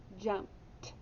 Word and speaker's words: jumped: And what sound does it make? Echo me. Jumped. Oh, it makes a T sound. So you bracket it with a T.